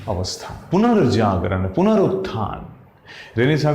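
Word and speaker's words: Renaissance: इट is pronounced as रेनिसा, रेनिसेंस न बोल के रेनिसा, ठीक।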